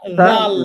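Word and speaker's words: ذ: হরফ যেভাবে উচ্চারণ করেছি জিহবার আগা উপরের দুই দাতের সাথে লাগিয়ে একইভাবে উচ্চারণ হবে এই হরফটা জাল সবাই বলেন তো জালবার আগা উপরের দাঁতের সাথে উপরের দুই দাঁতের সাথে জাল জাল জাল পেশু জাল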